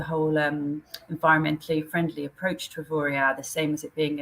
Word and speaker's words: Avoriaz: But I've got a key question for you: is it pronounced Avoriaz or Avoriaz? Officially, it should be Avoriaz, but that does depend who's saying it.